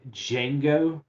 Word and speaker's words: Django: that even spaghetti westerns pronounce the d in django i did django listen